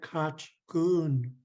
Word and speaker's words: Kachkun: Okay, that's what I thought, which is why the last time I said your name, I said Kachkun. Oh, Is, yake. is that a good pronunciation of your name? Yeah, I believe so.